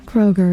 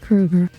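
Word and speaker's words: Kroeger: Kroger from uh Nickelback wasn't actually pronounced Kroger his name's pronounced Krueger oh too late now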